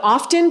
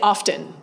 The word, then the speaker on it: often: in which we live, we are reintroducing the T in often. So you will now hear a lot of often, particularly in more formal settings. When I ask undergraduates, a lot of them say I have both. And when I'm bumping it up a little bit, I will say often. because it feels more formal to have the T in it, even though for several